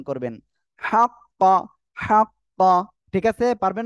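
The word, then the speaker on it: حق: তারপরে হা কফ জবর হাক কফ জবর ক হাক্ক এই যে হা টা উচ্চারণে অনেকে ভুল হয় অনেক বলে আক্ক অনেকে বলে হাক্ক গলাটা চেপে মুখ দিয়ে হালকা বাতাস বের করে উচ্চারণ করবেন হাক্ক হাক্ক ঠিক আছে পারবেন না আপনারা ওকে ইনশাআল্লাহ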